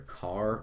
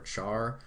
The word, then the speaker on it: char: You can pronounce this either car or char. I prefer car though.